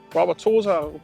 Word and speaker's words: Wauwatosa: The Wauwatosa rhymes with Mama Rosa.